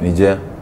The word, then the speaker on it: Niaje: Niger. So it's not Niaje anymore. It's Niger. Yeah, they just twist it.